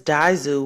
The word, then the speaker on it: Dzyu: So this Daizu, which is spelled Dzyu, is actually the origin